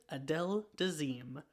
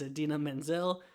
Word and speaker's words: Idina Menzel: says the wickedly talented adele dazeem and that is not her name it is idina menzel i don't know what